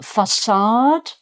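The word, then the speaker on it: façade: Um facade and the little squiggle under the sea. That's sadilla. Um is a French um thing uh to make the C sound like an S because if it wasn't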